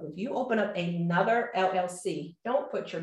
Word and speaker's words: Elle: It's a business, let it stand alone, okay? So Lorie Woodruff is nowhere in my business name. My business name is the L Exchange. The L Exchange, and L is spelled E-L-L-E.